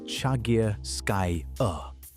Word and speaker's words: Chagirskaya: 11 of them came from a single site called Chagirskaya Cave, pronounced Chagirskaya.